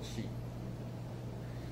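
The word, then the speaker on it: 气: They called actually, when it comes to energy, the pronunciation of energy in Chinese is called qi.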